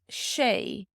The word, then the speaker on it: sé: So this is prounounced Shay, Shay.